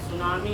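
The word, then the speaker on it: tsunami: हैड सु सामी है सुनामी है वो सुनामी सुनामी टी एस यू है नाम पढ़ते स एस प साइलेंट होता है बनाओ थ्री बनाओ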